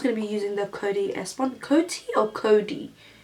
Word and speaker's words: Coty: I'm just going to be using the Coty S1. Coty or Cody? Coty with a T.